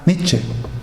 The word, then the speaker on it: Nietzsche: el famoso filósofo alemán Nietzsche, o Nietzsche realmente como se pronunciaría en alemán, de ese libro, de un erudito.